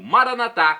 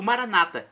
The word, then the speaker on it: Maranatá: E agora no aramaico eu clamo Maranatá, como dizemos nós católicos, com a tônica na última sílaba, ou Maranata, como dizem nossos irmãos separados, os evangélicos ou protestantes, que colocam a tônica na penúltima sílaba.